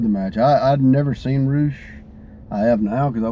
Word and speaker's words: Rush: They called him Roosh. Roosh. Even though it's spelled Rush. But it's Roosh.